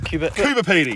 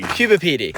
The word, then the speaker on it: Coober Pedy: Coober Pedy. Coober Pedy.